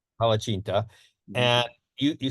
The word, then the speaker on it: palacsinta: I'll let you pronounce the name, which you Palacinta. Palacinta, Mhm.